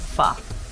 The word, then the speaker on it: pho: Is it like pho, pho, pho? You know? It's pronounced like pho.